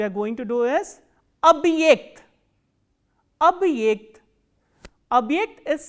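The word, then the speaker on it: объект: The next word we are going to do is abhyekt, abhyekt. Abhyekt is spelled as O, B, hard sign, ye, k, t.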